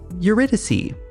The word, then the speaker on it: Eurydice: That was Eurydice. I had to look up how to pronounce that one several times, and I think I almost got it that time.